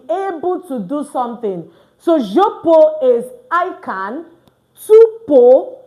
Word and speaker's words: je peux: Don't forget, we're not going to pronounce this X. All right? So je peux is I can.